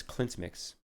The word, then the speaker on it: CLEANTmix: I'm not mistaken so the correct pronunciation is Clint's mix okay I think we're pretty close Clint mix if I'm seeing this